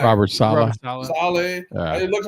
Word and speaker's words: Saleh: How do you pronounce his name? Robert Saleh. Saleh.